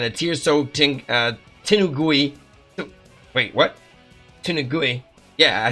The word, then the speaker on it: Tenugui: Tenugui.